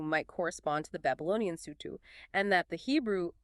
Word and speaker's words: Sutu: Now compare that with Babylonian texts, which frequently mention a group called the Sutu, pronounced roughly Sutu.